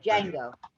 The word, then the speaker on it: Django: You write it together, David. Just put it together so you don't hear the separation of the D and the J. Django.